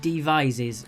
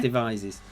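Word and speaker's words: Devizes: Apparently I'm right with my pronunciation on that one. Devises. Okay. It is Devises. I got one right.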